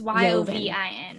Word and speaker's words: Yovin: And I think you pronounce it Katie Yovin. It's Yovin.